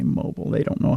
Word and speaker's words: Mobile: e I told you Mobile Alabama There's no there's no e in there it's it doesn't need to be I'm telling you it's Mobile Alabama I I have family